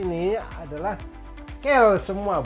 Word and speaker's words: quels: Nah, si quel ini ada dalam bentuk maskulin singulier, ada bentuk maskulin plurialnya, tambahkan S tapi S di ujung tidak dibunyikan, makanya dia quel juga.